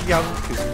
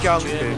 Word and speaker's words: Junkers: It's pronounced Yunkers, by the way. No, you've been saying Junkers.